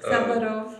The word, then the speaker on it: Ksaverov: It's Ksaverov. Ksaverov, yeah. It's like you pronounce Xavier Dolan, you know? Ksaverov.